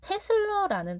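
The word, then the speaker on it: 테슬라: 자, 단위는 뭘 쓸 거냐면 테슬러라는 단위를 쓸 거예요. 대문자 T로 생긴 요 아이를 테슬러라고 읽습니다.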